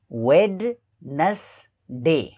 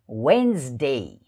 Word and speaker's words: Wednesday: अब WEDNESDAY WEDNESDAY यसको उच्चारण धेरैले गलत गर्ने गर्छन्, जस्तो वेडनेसडे वेडनेसडे यस्तो उच्चारण गर्ने गर्छन्। त यसको सही उच्चारण हो वेन्सडे वेन्सडे वेन्सडे वेन्सडे।